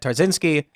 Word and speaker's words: Tarczynski: pronunciations correct so before the show I said trzinski very good pronunciation it's not easy to find me on